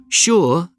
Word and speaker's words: sure: in the winter months sure and sugar are the only two words in the English language that begin with Su and are pronounced sh scientists use sugar to